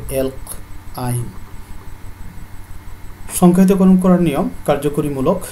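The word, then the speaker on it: alkyne: তাহলে যোগ করলে অ্যালকের সাথে যদি আইন যোগ করা, উচ্চারণ হবে অ্যালক আইন।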